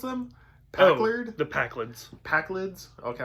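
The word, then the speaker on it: Pakled: Packlids? Okay, I wasn't say Packard, and I'm like, that is not how you pronounce it.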